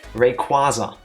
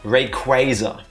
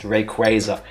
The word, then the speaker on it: Rayquaza: because I finally learned that forever I've been mispronouncing the following Pokemon's name. I always call it Rayquaza. It's Rayquaza. It's gonna remain Rayquaza. I don't know why. I cannot explain it to you, but it's pronounced Rayquaza.